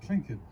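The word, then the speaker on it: Tlingit: native american heritage of the crinket tribe ravenclan out of southeast alaska it's pronounced clinton so she's proud of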